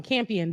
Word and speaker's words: Campion: her speech campion so i've been saying her name wrong campion the only woman nominated in the category okay